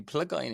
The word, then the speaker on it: Plygain: Anyway, Is it the U or a Y? why? Oh, would it be? Plygain? It'd be Plygain in Welsh, Oh, would it?